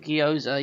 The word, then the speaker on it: gyoza: gyoza that's how you say it it's a gyoza yeah those were quite like different because i was thinking like oh the ninja turtles are gonna go try something new no they're gonna have pizza gyoza i'm like seriously gyoza pizza means yours i